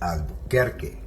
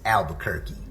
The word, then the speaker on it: Albuquerque: The correct way to pronounce it is Albuquerque, all right? But if you're an outsider or you're a non-Spanish speaker, then it's Albuquerque.